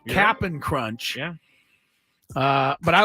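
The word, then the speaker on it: Cap'n Crunch: I'm pronouncing that correctly it is not Captain Crunch Captain it's cap apostrophe n it is look at the box it is capping crunch yeah uh but I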